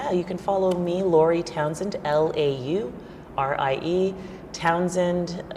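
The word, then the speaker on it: Townshend: Okay, you can follow me, Laurie Townsend, Laurie Townsend, TOWNSH. There's a silent H in there that people always forget.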